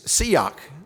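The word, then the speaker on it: שיח: It's siyak, S-I-Y-A-C-H, we would spell it in English.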